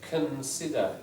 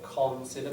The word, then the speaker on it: consider: a couple of points consider not considerer but remember that all about a Sy the syllable before the stress syllable the vowel in it will be weak consider and look just